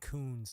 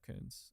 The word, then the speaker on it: Koons: I said his name wrong. Koons, not Koons.